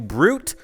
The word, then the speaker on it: Bruit: It's called the Dragon Bruit, of course spelled like fruit.